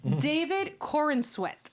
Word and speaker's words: David Corenswet: Another thing, the new actor for Superman, his name is not Christopher Reeve, silly goose, David Corenswet, I believe is the pronunciation.